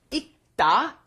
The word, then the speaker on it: 읽다: 읽다, because when it is followed by a consonant, then you must not pronounce it fully. You don't bring up the L sound, so it becomes 읽다 or 읽는다 because it's followed by a consonant here again, the N, right?